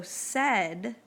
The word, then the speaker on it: said: and let's see if they tricked you so said is an oddball said is an oddball because